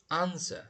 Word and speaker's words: answer: Subtle, catastrophe, chemistry, answer. Mana W silent bo'lib o'qiladi.